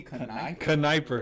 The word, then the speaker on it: Kneupper: It's Cody Kneupper, right? Yeah. There's no I there, but it sounds like that. Yeah, it's usually the K is silent too.